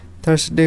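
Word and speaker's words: Thursday: बाद आता है थर्सडे थर्सडे भी हम लॉन्ग पेंडंट यह समय थर्सडे अगस्त सही प्रनंसीएशन है 10 डे थर्सडे में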